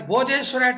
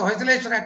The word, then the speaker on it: Hoysaleshwara: So this is the Hoysaleshwara temple, which is usually mispronounced as Bhojeshwara temple in Samayapuram of Trichinapalli. It's Samayapuram. The Vikramapura Kannanur is an hamlet of Trichy in the modern Trichy, and this is the Hoysaleshwara temple.